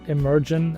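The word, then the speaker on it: Emergn: We pronounce it emergent and it's spelled it's six letters e m e r g n and you can find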